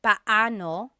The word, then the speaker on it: paano: just a pronunciation tip it's technically paoo when they're two vocab or when they're two vowels together you say them separately Pao but when speaking quickly Filipinos just say now let's practice using